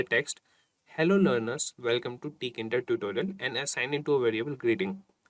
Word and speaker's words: Tkinter: And by the way guys, some people call it as Kinter. I call it as Tkinter, and many call it as Tkinter. So you guys can pronounce it at any way.